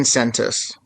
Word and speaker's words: Tsentas: Jane Sentis. T is silent.